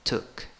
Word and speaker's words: took: En el pasado, U, pero no es una U larguísima, took, took. ¿Ok?